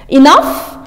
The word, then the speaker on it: enough: enough وليتر هنا جي اتش بتتنطق اف معناها بشكل كافي، كفايه يعني.